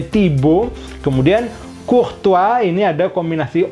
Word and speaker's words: Thibaut: Dibacanya seperti itu karena kombinasi AU itu O ke atas. O gitu. Kemudian H tidak bunyi. T dari kata Thibaut itu juga akhiran yang tidak bunyi. Biasanya tidak bunyi.